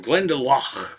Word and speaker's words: Glendalough: And then we hopped from there to, we were in Glendalough.